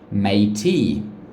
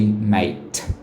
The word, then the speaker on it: mate: it's a silent you you don't say may t you just say mate the last sound is a t so it's a silent e this is what some